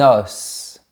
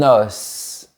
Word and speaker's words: os: Un os. On fait bien la liaison, on ouvre bien la bouche et on prononce la lettre S. Un os.